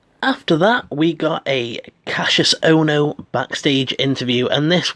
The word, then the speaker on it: Cassius: his name he said it's not Casius it's Cassius it's Cassius and that